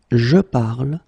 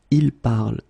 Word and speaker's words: parle: you listen to me, I will pronounce it je parle, tu parles, il parle, elle parle. So it does mean that even if you write them differently, E, ES, and then ENT, you will pronounce them the same way.